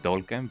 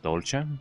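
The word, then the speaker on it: Dolca: I used to pronounce it dulkan, but I I believe it's called dolcha, maybe.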